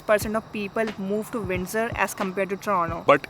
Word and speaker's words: Windsor: add about the pronunciation we used to say windsor but the correct pronunciation at windsor windsor yeah we also realized it few weeks ago